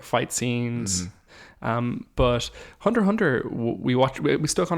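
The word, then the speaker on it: Hunter × Hunter: show called hunter x hunter which also is pronounced hunter hunter because it's silent the x's sound um which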